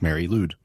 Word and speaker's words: Mari Lwyd: horse otherwise known as mary loud uh which is a welsh name it's actually spelled m-a-r-i-l-w but pronounced mary lude the name means grey